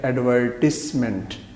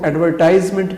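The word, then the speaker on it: advertisement: میں صورتیں بتا دوں۔ ایڈورٹائز اصل لفظ درست ہے، ورب کے طور پہ، فعل کے طور پہ ایڈورٹائز ہے، لیکن جب یہ ناؤن یعنی اسم بنتا ہے تو پھر یہ بن جاتا ہے ایڈورٹسمنٹ۔ پھر اس کو ایڈورٹائزمنٹ کہنا غلط ہوگا اور ایڈورٹسمنٹ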